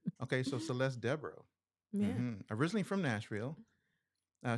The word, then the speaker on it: Debo: can I tell you my last name is Debo oh yeah well why do I think it was Debro is okay so it's Deborah yeah I didn't know that I've been pronouncing it wrong all this time okay so Celeste deborra